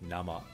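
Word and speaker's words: 生: the kanji for live but when it's by itself like this it can also mean raw and you pronounce it na ma so now I'm one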